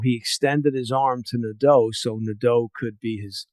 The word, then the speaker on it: Nadeau: And, I found the one part of the book interesting when it's Nadeau, right? Is that how you pronounce his last name? That's right. Okay.